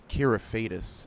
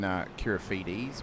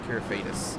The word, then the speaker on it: Kyrofidis: Kyrofidis is the pronunciation of his name. Thank you. I believe it's a Greek name, so I thought it might have been Kyrofides, but yeah, Kyrofidis is his last name.